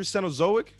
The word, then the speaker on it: Cenozoic: Cenozoic. Yeah, the Cenazoic Blue Ranger. Cenzoic Blue Ranger.